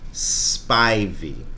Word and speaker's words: Spivey: It's not how you pronounce my last name, however, damn it. Does it matter? How's your last name pronounced? Spivey.